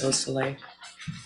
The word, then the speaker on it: Beausoleil: Could you tell me the pronunciation of Madison Baldwin's mother's name? Nicole Beausoleil? Yes. Beausoleil.